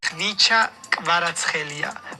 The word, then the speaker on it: Khvicha Kvaratskhelia: Khvicha Kvaratskhelia. What is the weirdest? Watch me try. Kvaratskhelia. No, that's not how you say it. My name is Khvicha Kvaratskhelia, but you can call me Kvara.